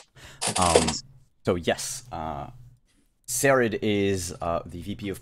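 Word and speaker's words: Saraid: how to pronounce it show us s-a-r-a-i-d yeah sherrod i'll probably rod um oh wait i can hear it here sarid um so yes uh sarid is uh the vp of public relations she's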